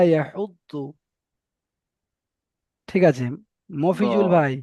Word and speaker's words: يحض: তো এখানে এই দোয়াদের উচ্চারণটা না ডাইরেক্ট দ হবে আর না ডাইরেক্ট জ হবে। দুটোর মাঝখান থেকে যু, ওয়ালা ইয়াহুদ্দু।